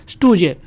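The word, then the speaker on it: stooge: जे तो इसके प्रोनाउंसिएशन क्या बन गया? स्टूजे।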